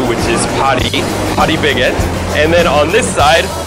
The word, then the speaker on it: Paris Baguette: The one over there, as you can see, we would read Paris baguette in English, but Koreans pronounce it more like Parisians do, which is Paris baguette.